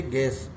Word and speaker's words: guess: जैसे गैस, GUESS, गैस माने अनुमान, तो इसमें भी U साइलेंस वर्ड है। G के बाद UE, तो एक गे बोलेंगे गैस, गैस माने अनुमान।